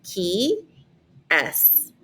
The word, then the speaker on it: qui est: And so it's literally pronounced like the parentheses, qui est. Qui est. That's how you pronounce that question on the top.